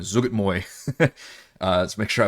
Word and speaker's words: Zuggtmoy: Zug my Zug I I looked up this pronunciation by the way this time Zug Moy uh let's make sure